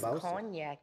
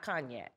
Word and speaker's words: cognac: can now see his cognac in there how do you say conan yeah it's poignant yeah it's not cognac cognac okay yeah so she said